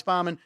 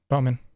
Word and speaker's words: Bowman: Harvick Joey Lano Alex Balman uh Bowman or Balman not sure how pronounce it Bowman Bowman Bowman there you go so you can bet